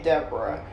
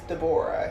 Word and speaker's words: Devorah: she will correct you if you say deborah it is not deborah it is deborah she will correct you really quick and say that you know her name is hebrew and the correct hebrew pronunciation is deborah okay mommy but anyway